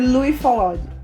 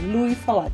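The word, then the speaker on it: Louis Feuillade: filmes em pedaços, né, eles foram dirigidos por Louis Follade. Mais uma vez, eu não falo francês, não sei se eu falei certo, mas acredito que seja assim a pronúncia do nome dele, Louis Follade.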